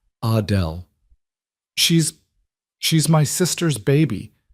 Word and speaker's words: Adele: She pronounced it the French way, Adele.